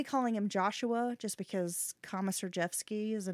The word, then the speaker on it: Komisarjevsky: His name is Joshua Komisarjevsky. Oh, so this is the bad guy, right? Yes. Yeah, well, so we're going to get into him. I'll be calling him Joshua just because Komisarjevsky is a name I probably will end up